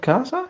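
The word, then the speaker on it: casa: your time listening to me um so the pronunciation of Kaza is correct Kaza is house so nice you also know the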